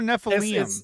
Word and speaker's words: Nephilim: Or is it Nephilim or Nephilim? It's actually, to pronounce it correctly, is Nephilim, because Eem is plural, but Nephilim is fine because it's Americanized.